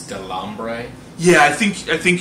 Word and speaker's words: Delambre: as the character of andre how do you pronounce his last name i think it's delambre yeah i think i think you're saying it